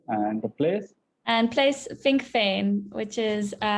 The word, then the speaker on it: Vinkeveen: And place Vinkveen, which is Vinkeveen. Yeah, because when the Dutch, they pronounce V, it sounds like a.